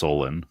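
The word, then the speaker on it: Solon: This was an event recorded by Egyptian priests to the Athenian statesmen of Sal was it Salin or Solen? I believe it's pronounced Solen.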